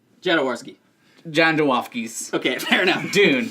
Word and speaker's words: Jodorowsky: see out of the new Dune movie was Androfsky's Dune. Like, Jodorowsky.